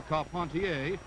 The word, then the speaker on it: Carpentier: Jack Dempsey advancing on Georges Carpentier, or Carpentier if you prefer the French pronunciation.